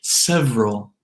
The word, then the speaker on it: several: Words like several, several, several.